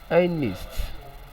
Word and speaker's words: honest: Option C is pronounced as honest, honest, honest.